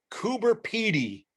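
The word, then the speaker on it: Coober Pedy: And I ran into a place called Coober Petty or Petty. Yes. And I dropped the little guy. You pronounce it right the first time.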